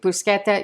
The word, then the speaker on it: bruschetta: who better be watching the correct pronunciation of bruschetta is bruschetta not bruschetta and if you want an annoy an Italian and you should just never do that say bruschetta but seriously busqueta is the correct pronunciation and I did look to see if